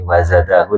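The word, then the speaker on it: وزاده: Nah nikilah kalau saya jelaskan sedikit, panjenengan mungkin lihat di slide-nya niki, wazadahu niki ada waw kecil di sini. Dan hu-nya ini adalah matsilah qasirah. Dibacanya panjang. Wazadahu, hu-nya panjang.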